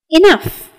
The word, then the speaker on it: enough: demolished enough sufficient adequate enough where the second syllable is pronounced as in puff or stuff and sufficient or very